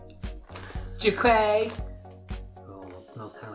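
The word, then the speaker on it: Jerquee: It's pronounced Jerky. Whatever, it's spelled J-E-R-Q-U-E-E. Jerky.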